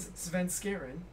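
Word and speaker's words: Svenskeren: support, Haunter Rip GG at top lane, and Sven Skaren, which I can finally pronounce properly.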